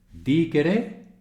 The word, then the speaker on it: dicere: Y aquí, dicere es el verbo, ¿vale? La segunda parte del verbo, verdicere. Así. Dicere. El acento en la primera, facilito.